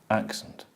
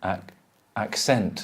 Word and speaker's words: accent: So you know the stress is on the first one, accent. Scent, accent. Scent, accent. That's it. Yeah. Because the person who doesn't know will say, who's Spanish, will say accent.